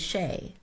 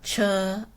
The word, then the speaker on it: Che: most of you know my name is Shay as sheay is spelled c and people often call me uh cha and and she or people are always mispronouncing sheay but the truth is